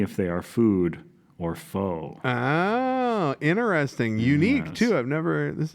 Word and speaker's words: faux: So, in this week's game, we're going to be playing Food or Faux, and that, of course, is spelled F-A-U-X. Faux as in fake, as in not real.